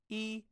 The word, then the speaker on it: 一: This is how 1 is pronounced in Chinese. 一 E, E, E.